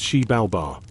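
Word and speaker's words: Xibalba: The Maya believed these caves were entrances to the underworld called Zabalba, pronounced Sheib Balbar, which is as spooky and full of trials as it sounds.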